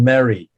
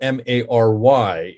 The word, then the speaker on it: Mary: They still pronounce it as Malv or something along those lines. So it's just they use a Y letter, but it's pronounced the same way as it was.